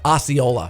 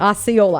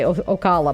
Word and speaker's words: Osceola: Osceola. Osceola. I was going to say Ocala, but I knew it wasn't.